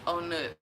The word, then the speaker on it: On Nut: I love in Bangkok is called owner like on nut but they but they pronounce it owner however apparently this area